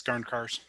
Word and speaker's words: Garncarz: It's Garncarz.